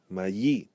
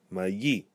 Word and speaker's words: mayi: Mayi, where we stress the final syllable, mayi.